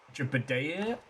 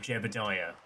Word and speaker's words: Jebidiah: Little Fiery, I'm just laughing because he spelled he pronounced it uh Jabida uh Jadea instead of Jebidiah.